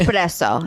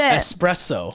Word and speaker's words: espresso: it's espresso, not espresso.